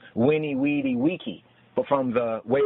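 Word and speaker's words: veni, vidi, vici: But in Old Latin, it was winnie, weedy, wiki, like Wikipedia.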